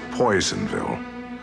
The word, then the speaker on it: Personville: is set in a strange town called personville which everyone pronounces poisonville a western mining town